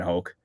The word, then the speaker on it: Hoke: So I can absolutely relate to Brian Hoke. By the way, rhymes with Coke.